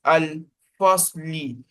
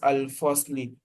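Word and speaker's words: الفصل: It is al-fasli, but we are going to stop on it. We are not going to pronounce al-fasli. We are going to say al-fasl.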